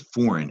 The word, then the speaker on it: foreign: foreign about the word foreign is that G is silent right and it's because of the old french version of foreign but you can see